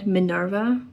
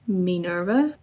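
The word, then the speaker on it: Minerva: I think I said Manurva, but it's Minurva.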